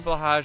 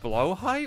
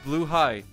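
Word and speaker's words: Blåhaj: celebration of my new blage I got last week bless you Ikea shark friend it's pronounced blo High what is it not blage it's blue high blow high is it actually right BL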